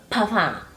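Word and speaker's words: parfum: say puff funk because i was told in the comments that paffa does not have it the m is silent so papa okay that is one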